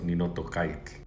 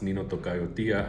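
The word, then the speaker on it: Ninotocayotia: For example, when I first started studying this, I thought the proper way to say it was Nino Tocaik, but it's not, it's Nino Tocayo Tia, and then I had to look into no toca.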